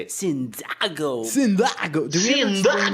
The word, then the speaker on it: Cyndágo: if you're wondering why it's called the Cyndágo podcast and not the Cyndago podcast, well, that's because a lot of our friends think the first time we talked to them about Cyndago, they assume that it's pronounced Cyndago.